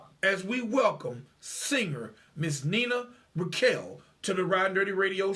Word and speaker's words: Nina Raquel: My wife is Hispanic, and she always telling me I got to roll those R's. Absolutely, absolutely. But yes, you can call me Nina Raquel if you can't roll your R's.